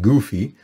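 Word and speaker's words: גוף: it without it sounding goofy so i used the letter u so it's pronounced goof goofy's body so root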